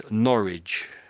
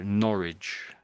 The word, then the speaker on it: Norwich: So we pronounce this as noridge. Noridge. So the the W's silent I would say really. So Norwich.